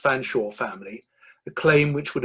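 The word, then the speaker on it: Featherstonhaugh: a member of the fanshawe spelt featherstone hall pronounced fanshawe family a claim which would eventually land henry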